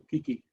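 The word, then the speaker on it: 危機: La pronuncian Kiki.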